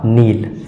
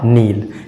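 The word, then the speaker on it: kneel: N double E एल के N double E एल इसका सही उच्चारण जैसा कि के के तुरंत बाद एन आया है तो इसमें के जो है साइलेंट होगा और इसका सही उच्चारण हो जाएगा नील इसका सही उच्चारण हो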